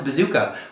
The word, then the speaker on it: Bezucha: film directed by thomas bazooka which will be released courtesy of focus features november 6th 2020 is his name spelled like a bazooka no it's spelled b-z-u-c-h-a and you are